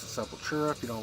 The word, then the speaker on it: Sepultura: Sepultura.